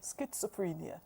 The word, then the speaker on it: schizophrenia: Someone wants you to he also wants you to pronounce schizophren schizophrenia. Schizophrenia schizophrenia. Okay. Good. The ch is a k sound.